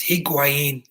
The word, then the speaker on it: Higuaín: and pronounced his name this is her quanities he queen is how you pronounce that nerd boy and they said Murata